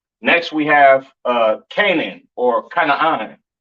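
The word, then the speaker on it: כנען: This is pronounced Canaan, all right?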